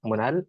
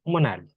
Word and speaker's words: MON3L: I also go by my alias, which is Monal, MON3L. A lot of people don't pronounce my alias properly, so here I go again. It's Monal.